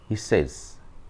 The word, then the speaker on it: says: আমরা সরাসরি বলি কি সেস তো সেইস হবে না সেই এখানে একটা এই